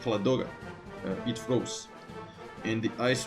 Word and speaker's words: Ladoga: with the Soviet positions the lake ladoga or at least that's how it's pronounced in my language the lake loga it froze and the